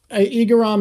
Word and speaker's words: Igaram: I'm glad that his hair had something in, is it Igarapoi? Igaram is how I've heard it pronounced in the anime.